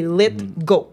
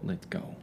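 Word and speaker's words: Lithgow: Dumblore est joué par John Lidgo. Donc c'est vraiment comme ça qu'on le prononce. C'est pas LG, c'est GW à la fin mais c'est Lit Go. Let go.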